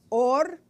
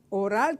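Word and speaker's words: אור: son es interesante que la palabra piel y la palabra luz en hebreo suenen iguales pero se escriben diferente or piel or luz el or or de piel empieza con una a y or de luz empieza con una Alf entonces pasaron de luz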